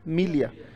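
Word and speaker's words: milieu: अगला वर्ड है बेटा, बोलो मीलिया. क्या उच्चारण है?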